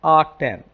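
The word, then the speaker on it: atan: They are pronounced as ark sine, r cos and r tan.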